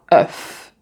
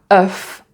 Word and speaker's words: œuf: Donc, c'est pratiquement la même chose comme dans stuff. Et alors là, tu as œuf.